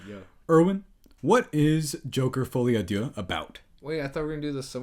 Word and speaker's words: Folie À Deux: If you have not seen Joker Folie À Deux, which is how you pronounce it.